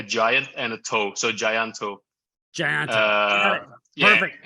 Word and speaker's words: Tjahjanto: It's actually Tjahjanto, but like I know like it's always get people tongue tied. So Tjahjanto sounds pretty fucking cool. What's actually funny is that's pretty much how I've pronounced it.